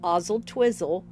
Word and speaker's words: Oswaldtwistle: a strong Wi-Fi signal Oswalt twist often pronounced ozel twizzle is closely connected to